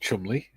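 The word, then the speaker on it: Cholmondeley: Uh Julie says Colondley is pronounced Chumley.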